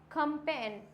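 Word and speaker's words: campaign: Next है कंपेन। क्या हो जाएगा? कंपेन। फॉरेन। और ये क्या हो जाएगा? नोम। जी क्या है?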